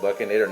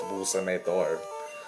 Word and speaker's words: Boostinator: It doesn't really look how it'd be pronounced. Like, you would think it would be pronounced Buckinator. No, it's Boostinator.